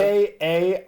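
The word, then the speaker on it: Karmacrow: guys i feel like k-a-r-m-a-c-r-o-w karma crow like carmo and crow oh we karma almost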